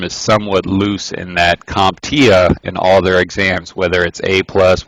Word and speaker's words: CompTIA: it's developed by the computer technology industry Association CompTIA that's how you pronounce it passing shows a basic competency in